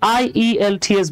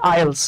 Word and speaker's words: IELTS: তাহলে খেয়াল করেন, আপনি কি করতে পারেন, আপনারা হয়তো আইএলস এর নাম শুনেছেন, IELTS, এটা আমরা অনেকে IELTS বললো, যেটা আসলে রিয়েল প্রনাউন্সিয়েশনটা হচ্ছে আইএলস।